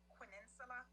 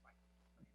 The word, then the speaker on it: Quinnsla: Hi, my name is Quinnsla, like peninsula. It's pronounced Quinnsla.